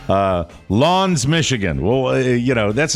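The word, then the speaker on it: L'Anse: the listener Prov French it is French and The Listener provided a pronounce I said well that can't be right and I did the research L Lawns yeah Lawns Michigan Jose California art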